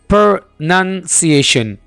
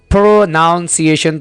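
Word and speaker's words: pronunciation: प्रोनाउंस एशन या प्रोनंसिएशन दोस्तों अगर आप इस वर्ड को कुछ इस तरह से बोल रहे हैं प्रोनाउंस एशन तो आप इसमें गलती कर रहे हैं सबसे पहले यह है कि आप इसमें गलत स्पेलिंग का इस्तेमाल कर रहे हैं नंबर टू आप इस वर्ड को बोलने में यानी इसको तलफ्फुज इसका जो तलफ्फुज जो आप करते हैं व आप गलत करते हैं आप इसको ऐसे बोलते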